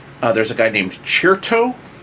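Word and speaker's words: Cherto: there's a guy named cheertoe how do you know how you spell that it as in like crescendo but with chert so this is like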